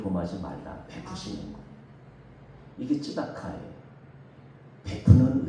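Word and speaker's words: צדקה: 쯔다카. 조금 발음이 어려운데 쯔다카.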